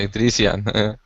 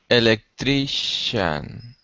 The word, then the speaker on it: electrician: things oh that's easy electrician right electrician good pronunciation electric electrician that's it that's it remember the CI in English CI and TI are usually pronounced like an sh electrician so electrian so